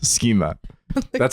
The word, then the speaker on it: schema: Schema. That's how it's pronounced.